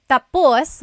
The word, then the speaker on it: tapos: So, when it's tapos, when the emphasis is at the end, tapos, that means finished. When the emphasis is on the first syllable, then it means next.